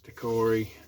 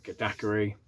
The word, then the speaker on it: daiquiri: It's a strawberry daiquiri. Oh, I said it wrong. Daiquiri.